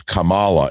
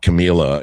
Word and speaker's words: Kamala: You know, everyone was like, "You're not pronouncing it right. It's Kamala. It's not Camilla."